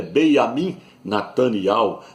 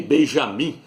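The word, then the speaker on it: Binyamin: eterno Ministro de Israel o nome dele é Beam Nat não é nem Benjamim porque no hebraico não tem a letra J não é Benjamim é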